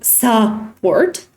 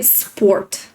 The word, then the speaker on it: support: And when you pronounce, you don't say support, you say sport.